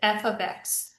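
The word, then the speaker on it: f(x): is f ofx and that's how you pronounce it f ofx so for example f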